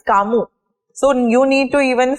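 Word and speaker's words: Camus: know even Albert C for that matter we pronounce it as kamu correct so it's not kasas it's kamu so you need to even start working on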